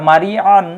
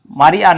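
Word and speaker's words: مريعا: হামজার উচ্চারণ এবং আইন আইনের উচ্চারণটা খুবই চিকন হবে হ্যাঁ খুবই চিকন করে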